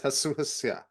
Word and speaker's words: YCHYFUS: YCHYFUS.